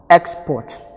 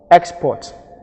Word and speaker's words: export: or as a verb if we have it as a now the first syllable is going to carry the stress because more emphasis is